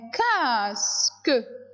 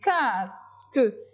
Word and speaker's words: casque: Deuxième, un casque. Un casque. J'ai mis Q. Mais regardez les enfants, le U là ne se prononce pas.